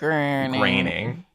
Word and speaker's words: Groening: it's like john boehner it's spelled like boner but you pronounce it raining matte green ironing i